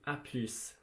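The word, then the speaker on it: à plus: that to just be a plus you need to pronounce the s on the end of the though or else it's not correct um you can write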